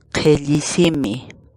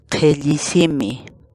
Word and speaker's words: Qhilli: series videos where we teach you how to pronounce certain words in Quechua. So our word of the day for today is Qhilli. Qhilli. Qhilli.